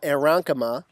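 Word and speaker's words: aerenchyma: So that second approach is what we call aeronkema, And I've given you a pronunciation here because it's a very strange word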